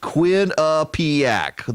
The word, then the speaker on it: Quinnipiac: I love that they do the pronunciation guide. Kwin, Quinn, Uheapac, ACK, Quinnipiac, the Quinnipiac University National Poll.